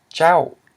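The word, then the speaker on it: ເຈົ້າ: If it's falling tone, and you know the consonant, you know this diphthong vowel, you have and then the tone. So it's jiao, okay, which means you.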